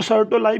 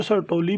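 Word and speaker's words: Sertoli: These V shape cells basically are known as द सर्टोली cells. सर्टोली cells, इनको सर्टोलाई भी पढ़ा जाता है बच्चों, सर्टोली भी ज़्यादा प्रोनाउंसिएशन सर्टोली।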